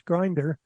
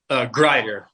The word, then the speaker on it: Grider: you wrote with Josh Grinder. And how did that come about? Is that how he pronounces his name? I didn't. Grider, Josh Grider. Yes, sir.